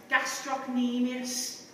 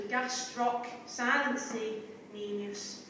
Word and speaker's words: gastrocnemius: for that is actually, you're not supposed to pronounce the C, but for the benefit of you being able to spell it correctly as part of the literacy drive, gastrocnemius. Okay, so gastroc, silent C, nemius. Okay, so two more exercises, Miss Hunter.